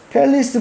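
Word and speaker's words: palace: 팰리스 보겠습니다. 팰리스고요. 단어가 여기서는 리 발음이 납니다. 그래서 팰레이스가 아니고요. 팰리스다.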